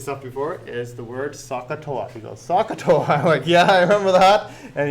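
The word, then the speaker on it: SOHCAHTOA: have them memorized there is this pneumonic there pronounce sakatoa and it's one of those things that just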